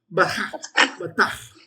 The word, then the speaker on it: patach: If you're not spitting, you're missing the fun of it. Patach. You spit to begin with a patach. You spit all on your screen, you did a good job. Patach. That's the Hebrew strong the cha.